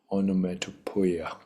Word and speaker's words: onomatopoeia: Onomatopoeia is how it's pronounced.